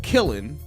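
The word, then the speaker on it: Kiln: it down there but isn't that traditionally pronounced kill like when you have a clay thing and you put it in the kill like that like that special oven for like pottery and to make it hard are you pronouncing the end at the end no oh it's just kill ya not kill him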